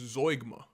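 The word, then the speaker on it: zeugma: Okay, let's just go to Zugma. It's pronounced Zoigma.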